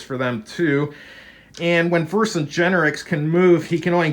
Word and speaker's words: Vercingetorix: When the card says Vexrit, how do you pronounce it? Vercingetorix.